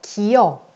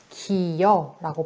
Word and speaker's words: 기어: 기어. 이와 어가 만났죠. 이와 어가 만나서 기여라고 발음되는 거.